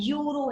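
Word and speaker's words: euro: दे रखा है यूरो, इसकी प्रोनाउंसिएशन क्या है? यूरो है, यूरो, य से स्टार्ट हुआ, तो इसमें अब देखो वोवल साउंड नहीं आई, इसमें कौन सी साउंड आ रही है? कॉन्सोनेंट की, तो यहाँ पर अ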